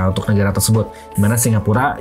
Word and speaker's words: Singapura: negara tersebut di mana Singapura yang sering juga diucapkan sebagai singhapura berasal dari kata atau